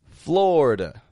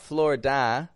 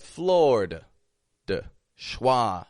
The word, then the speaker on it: Florida: in my own skin Florida floor that eye in the middle totally dropping out instead of a Florida just two quick syllables FL fla and that a on the ending is awah you want to remember that that's awah it's not Flor da or Flor da but floor dwah ending totally weak unstressed quiet